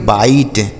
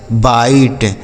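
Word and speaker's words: bite: निस नहीं पढ़ते हैं क्योंकि आई के बाद अगर इ लिखा होता है तो उस आई का उच्चारण आई ही होता है एस आई जेड ई इसे पढ़ेंगे size S आई जेड E size B आई टी ई इसे पढ़ेंगे बाइट क्या पढ़ेंगे बाइट टी आई एम ई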